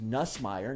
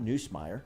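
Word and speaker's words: Nussmeier: play the backup and his name's nussmeyer not newsmeyer did we ask anybody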